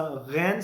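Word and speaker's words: Ghana: घाना जगह का नाम है, they would pronounce it एज गाना, गाना.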